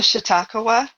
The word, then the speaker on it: Chautauqua: I'm gonna mispronounce the cat's name. Oh, Chautauqua.